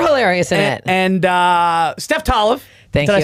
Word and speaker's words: Tolev: It's Tolev, but you said Tolev. it the very American way, so it's fine. I accept it. It's Tolev. Yeah, but Tolev is the way Americans say it. Okay. Tolev, I think, is more Canadian way, and Tolev is just like you guys you hold the O's open a bit longer. But that's a Bulgarian last name?